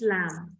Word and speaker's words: lamb: Don't say lamb, banana. It's lamb.